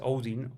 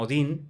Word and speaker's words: Odin: en la mitología nórdica el dios principal es Odin. Bueno, la gente lo conoce como Odín. Bueno, Sí, tú lo dices más técnico, ¿no? digamos cómo se pronuncia en teoría, ¿no?